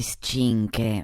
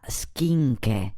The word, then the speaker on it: schinche: Ascolti me, per tagliare non si dice scinche, ma schinche.